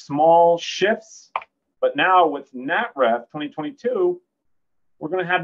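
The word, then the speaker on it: NATRF: That's how we pronounce it, NATREF.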